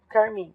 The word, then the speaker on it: carmim: Só para saber, carmim, a tônica é o min, tá? Por isso que eu tenho 2 sílabas poéticas com a tônica em min.